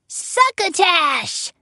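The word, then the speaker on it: succotash: and suckatash said Stan suckatash rhymes with bash suckatash said Wall-E he waved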